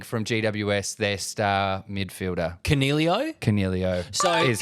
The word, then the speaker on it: Coniglio: Cornelio? Cornelio is correct. Well, so mispronouncing it is Coniglio. It's not. It's Cornelio.